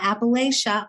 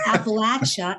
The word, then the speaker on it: Appalachia: As a matter of fact, they say it wrong. It's not Appalachia, y'all. It's Appalachia.